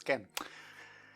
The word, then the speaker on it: Gen: I feel like I always want to say her name is Jen or something, but no, it's Gen.